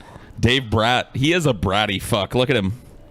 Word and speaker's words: Brat: He is a bratty fuck. Look at him. His name is pronounced Dave Bratt.